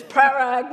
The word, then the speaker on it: Parag: And last but not least, and I'm going to say it right because I practiced all last night, is Parag, not prerogative, Sagankar, who has the pain and the privilege of leading Deloitte's GBS operations.